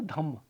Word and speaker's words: धम्म: तो इसलिए आप अगर यहां पे देखेंगे मग्गा लिखा हुआ है, मार्ग को मग्ग, धर्म को धम्म ऐसे बोलते हैं, ओके।